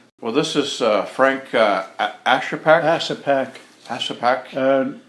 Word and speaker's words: Ashepak: Ashepak. Ashepak. In Yupik, Ashepak would pronounce it Ashepak. Ashepak it's really good. That's what it means. Okay. But in English, Ashepak.